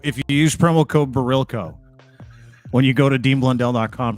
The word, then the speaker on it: Barilko: Barilko. You got to go to there and put Barilko in.